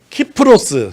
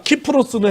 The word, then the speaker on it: 키프로스: 키프로스, 사이프러스, 구브로 이런 게 진짜 어려워요. 성지순례 가이드 하면 제일 힘든 게 이런 겁니다. 키프로스는 헬라어 발음이에요.